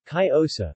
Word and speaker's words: Cariñosa: Cariñosa, Spanish pronunciation, Cariosa, meaning the loving or affectionate one, is a